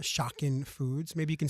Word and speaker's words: Shocken: origin of your name, Shocken Foods? Maybe you can spell it first for everybody. So it is, first part is shock, and then instead of I-N, it is E-N, Shocken Foods.